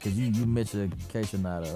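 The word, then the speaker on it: Kaytranada: Houston, like, cause you mentioned K-Tronada, right? That's how you pronounce it.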